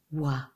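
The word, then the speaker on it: は: When this hiragana appears in a word, it's pronounced ha, but when it's used as a particle, as it is here, it's pronounced wa.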